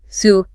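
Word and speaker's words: salubrious: Then there is cubrious pronounced suis. Subra. Clear articulation of all four syllables ensures fluency here.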